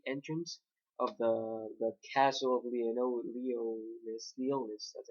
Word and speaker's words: Liones: Uh, basically, we start off this chapter with apparently King Arthur being in the gate entrance of the castle of Leonis. That's how you pronounce it.